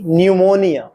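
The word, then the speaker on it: pneumonia: के नॉलेज ज्ञान पी न्यूमोनिया puff की सूजन आपने देखा कि इन शब्दों के प्रथम अक्षर का शब्द में उच्चारण नहीं होता अब इन शब्दों का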